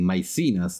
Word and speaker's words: Maecenas: I think I have uh pronounced myas machinas machinate in a 100 different ways. So I will now start using myas that seems to be the most English pronunciation. Sorry for the confusion. That's the Italian in me coming out.